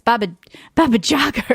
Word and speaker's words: Baba Jaga: I thought it was Baba Yaga, but it's Baba Jaga or something. Hold on. I wrote it down. There's another Baba. Baba. They might pronounce the J like a Y.